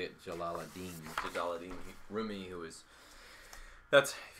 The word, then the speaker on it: Jalaluddin: I say it Jalaluddin.